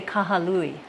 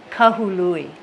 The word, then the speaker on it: Kahului: this area Kahului Kahului a lot of people say kahalui Kahului yeah one little vowel can